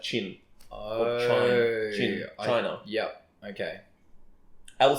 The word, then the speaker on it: Qin: Like it's spelled Qin, but it's pronounced like Qin.